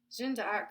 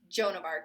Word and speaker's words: Joan of Arc: to her hmm intriguing you know tell me jinda arc was famous for hearing the voice of God but usually it's only spiritus Rouge which I pronounced that horribly wrong as well because it's Joan of Arc here you know it may be an evil